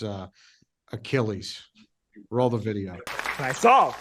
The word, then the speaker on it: Achilles: one million dollars we couldn't because he couldn't pronounce uh Achilles roll the video I saw it wasn't a good idea yeah mythological hero achus I can't accept that okay I'll solve yeah